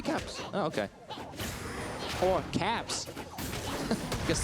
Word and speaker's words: Caps: those side Lanes it's cops now yeah is it cops cops cops can't get away is that the Danish pronunciation uh nope that would actually just be caps oh okay or caps